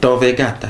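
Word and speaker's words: Tor Vergata: à l'Université de Rome Thor vegata je prononce bien ah oui c'est Thor vegata c'est ça capito c'est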